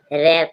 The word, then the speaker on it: wrap: WRAP, रैप, रैप means ढांकना, W silent है।